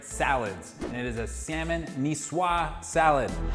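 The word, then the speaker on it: Niçoise: of my favorite salads it is a salmon nisswa salad it's not a nikoi's salad don't get confused by the spelling it is pronounced me swat so here's what you'll need it's going to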